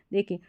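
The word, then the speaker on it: dough: देखिए यहाँ पर ये है दो, इसमें ओ का साउंड आ गया।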